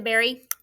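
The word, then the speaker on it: bury: Yep, pick the berry, eat it off the bush. Very good. This berry, spell it, B-U-R-Y.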